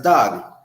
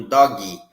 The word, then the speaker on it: dog: Lucas has a dog. A Emília tem um gato. O Lucas tem um cachorro. Dog, dog, e não doggy.